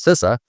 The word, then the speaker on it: CISA: and infrastructure security agency that we call we we pronounce sisa um we've been running